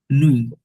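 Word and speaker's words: nuit: সথা hello বলম উদ নোয়া নোয়া ওয়াই থাকলে ওয়া হয় বাট এ ইউ নুই নুই নই নই টিটা সাইলেন্ট একটু হালকাই থাকবে আচ্ছা নুই মানে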